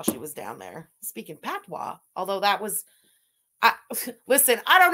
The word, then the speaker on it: patois: Patois. Don't pronounce the T. Patois.